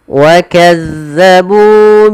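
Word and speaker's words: كَذَّبُوا: Hati-hati dalam melafalkan zal ini. Sering terjadi kesalahan adalah menggantinya dengan zai. Misalkan wa kazzabu, wa kazzabu. Ini sering terjadi. Wa kazza, bukan za tapi wa kazza, azza.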